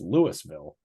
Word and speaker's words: Louisville: Unless you're in Colorado, where we have a town with the same spelling and it's Lewisville.